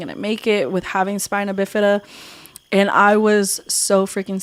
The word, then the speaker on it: spina bifida: spina bifida or bifida or it's called spinal bifida. No, spina bifida.